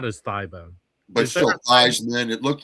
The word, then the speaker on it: Theismann: His original name was pronounced Feesmann. Huh. But when he was at Notre Dame, they said, "Well, Theismann rhymes with Heismann."